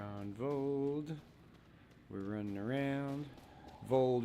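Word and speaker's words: Voeld: Vold rhymes with cold because it is super cold.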